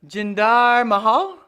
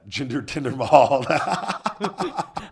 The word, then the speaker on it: Jinder Mahal: Okay, Jinder fine. Mahal. Jinder, Tinder. Okay, I get it. Yeah. Jinder Tinder Mahal.